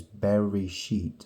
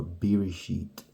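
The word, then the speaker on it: בראשית: Genesis in in Hebrew the original word is berry sheet or ber sheet Berry sheet it looks like when you spell the translit when you spell the transliteration people spell it b e e r i s h i t or b e r i s h e e t so like ber sheet so what it's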